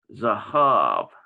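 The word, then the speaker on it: זָהָב: saw on the chart, Biblical Hebrew has Zahav. That's how you pronounce that, Zahav. While Biblical Aramaic has Dahav. Okay, D-A-H-A-V. Okay, so there's like a difference here because in Biblical Aramaic, you got this D sound on this same word, but in Biblical Hebrew,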